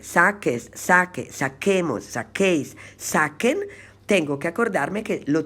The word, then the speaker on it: saque: la u porque es la única manera para pronunciar bien el verbo sacar en subjuntivo y entonces para escribir saque saques a que saquemos saquéis saquen tengo que acordarme que lo tengo que escribir